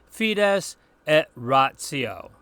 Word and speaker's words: fides et ratio: In other places, the combination TI sounds more like a TZ. Think of Pope John Paul II's encyclical on faith and reason. In Latin, we pronounce that fides et ratio.